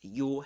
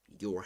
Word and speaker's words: your: So it's your heads. We don't pronounce the R in British English, in Luke Thompson's accent, but we do in American English. Okay, in American English, you'll say your heads.